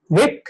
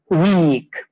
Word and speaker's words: wick: now be careful because here it is a wick it's a short sound it's not a weak because when we talk about vocabulary allowed to